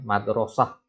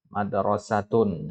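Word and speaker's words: مدرسة: Misalkan madrasah ya. Ya, madrasah. Ini kaidah dari ilmu kitabah juga ya. Madrasatun. Itu kan tak marbutoh sebenarnya, tapi dibacanya seperti ha.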